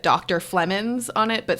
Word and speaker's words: Flemons: Flemons on it, but spelt PHLE. What is it? I think there's a G in there somewhere. All of that. Flemons.